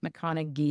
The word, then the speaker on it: McConaghy: Charlotte McConn is how she pronounced it, but it's like the last it's like ghy ending, but she pronounced with the G.